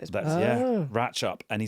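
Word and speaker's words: Ratlinghope: It's in a place that I thought was called Rattling Hope, but we had a message from newscaster David who lives there and says it's actually pronounced ratchup even though it is written for a really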